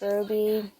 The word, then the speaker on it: RWBY: anyone knows it's called ruby it's it's it's spelled weird you replace the u with a w in it and then it's just pronounced ruby like i said weird